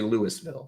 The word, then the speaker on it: Louisville: I'm going to have to remember that because I'm thinking of a hard S but it's Louisville, which I can say, but if I see the word, I want to say Louisville, so I have to not see the word.